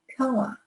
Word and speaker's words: 평화: So this is like young. Like I'm young, but you put a P in the front. So it's 평. Remember, Korean pronunciation is right there, right on, straightforward. That's going to be 평. Okay, 세계의 평화. And since we're connecting these two, get rid of the H. 평화. Just like WA.